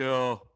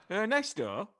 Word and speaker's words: Ernesto: Ernesto. That's it. Yeah, got it right. Which one's right? Second, Richard, not Chris. Ernesto? That's it. Yeah, man. It's just like Ernest with an O at the end.